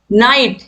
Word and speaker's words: knight: नाइट, नाइट में के silent है, और ये इस नाइट का मतलब होता है योद्धा।